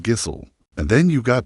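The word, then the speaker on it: Gísli: Your whole legal case could fall apart because you called him Gisli instead of Gisel.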